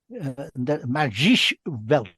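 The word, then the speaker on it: Magische Welt: Well, on that, Magic Welt, Magisch Welt, that's how you pronounce it in German, I'm told.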